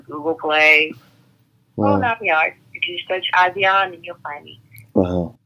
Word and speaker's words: Asiahn: I'm on all social media as I am Asiahn, and Asiahn is spelled A-S-I-A-H-N. So think of Asia like the continent, mm-hmm. Add an H-N at the end.